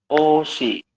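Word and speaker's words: 옷이: Ada yang masih ingat dibacanya menjadi? Oshi.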